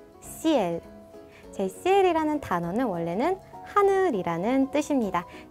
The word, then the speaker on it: ciel: 자, 이거의 정확한 발음은 CL. CL. CL.